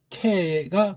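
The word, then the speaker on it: καί: 여기부터 여기까지인데 요 카이자 정확한 발음은 케가 가깝다 그렇게 했죠.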